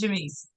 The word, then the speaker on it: Jamise: Welcome to the stage, Jamise. Awesome. Thank you, CT. That is the correct pronunciation of my name.